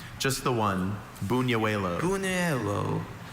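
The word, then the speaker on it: buñuelo: Are there alternative pronunciations? Just the one. Buno. Buno.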